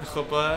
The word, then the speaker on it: chuppah: The UPA, how do you pronounce that? Chuppah.